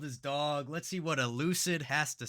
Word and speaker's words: Elucid: And today we're going to be reacting to The World is Dog from Elucid. Finally, I said it right. I always said it Euclid, but this suggestion came from Baroon over on the Buy Me a Coffee.